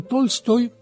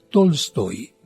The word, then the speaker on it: Tolstoy: Es de un conocido escritor llamado León Tolstoy, o bien, como algunos pronuncian, Tolstoy.